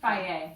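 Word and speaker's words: Fage: Okay, we've gotten this do you pronounce it? Faye.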